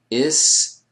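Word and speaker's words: استفعال: And notice where the emphasis ends up coming here. Istif'al. Alright. Istif'al is the masdar. This is why you want to be careful how you pronounce the sukoons here so that we get the clear emphasis.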